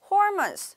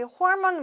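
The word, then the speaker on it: hormone: 것들을 얘기해 주는 거겠죠 hormance 우리 홀먼 뭐예요 호르몬이 영어의 발음으로 걔네들은 조절합니다 어떠한 우리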